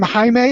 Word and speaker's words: Jaime: like the name is the name Jaime is spelled with a J it looks like Jamie it's not Jamie atomic thank you thanks